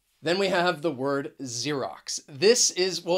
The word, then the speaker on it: Xerox: attention to the pronunciation xerox because the spelling and the pronunciation can be a little confusing and you could use